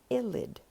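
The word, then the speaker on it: ylide: slide is known as a phosphorus illid that's how you pronounce that word and this phosphorus ilit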